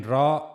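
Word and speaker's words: ر: So they show us that when raw has fatha or dhamma so then we have to pronounce we have to read the raw bold. Whenever ra has fata or dhamma on it then we have to read it bold.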